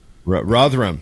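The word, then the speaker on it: Rotherham: how do you say rotham Ram that's it Ram there we go you got to say it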